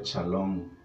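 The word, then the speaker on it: שלום: las puede ofrecer dios la palabra paz en hebreo se pronuncia charlone y es una de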